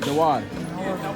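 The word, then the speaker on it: Dauar: Dawar? How do you pronounce it? Dawar.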